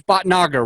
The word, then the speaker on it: Bhatnagar: And it's Bhatnagar, right? I want to make sure I'm pronouncing it right.